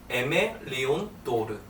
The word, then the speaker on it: Aimé Leon Dore: 오늘은 제가 에멜리온도르라는 브랜드를 한번 소개해 보려고 하는데, 제가 지금 입고 있는 니트 가디건이 에멜리온도르 제품이에요. 이게 발음이 조금 어려운데 에멜리온도르.